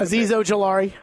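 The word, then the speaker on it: Azeez Ojulari: You have Azizi, I can't pronounce the name, Ajari or something like that. I can't. Aziz Ojolari.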